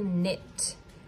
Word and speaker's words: knit: So how would you spell knit? N-I-T, knit. If you guessed K-N-I-T, you are absolutely correct. Remember, strange as it looks, K-N sometimes makes just the N sound, like in knee.